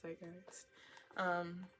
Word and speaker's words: zeitgeist: We know how Pulp Fiction, like, gets passed down through the zeitgeist. That's how you say it, zeitgeist.